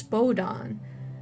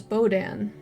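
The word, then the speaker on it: Bodahn: there it's interesting that he pronounces himself as bodon when i've heard it as bodan but i mean it i guess it depends on which area you come from it could be either or let's see that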